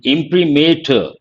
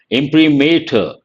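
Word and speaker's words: imprimatur: no no I told you yesterday the correct pronunciation of this word impremator impremator implementer here in Pre you can easily guess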